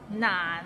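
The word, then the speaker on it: 難: I eat an orange Nan it's not none it means difficult and it's difficult to pronounce so we start with n and ends with another n and it's in a low tone so none practice and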